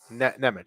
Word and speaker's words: Nemec: How do you pronounce it? Nemec? Nemec, thank you.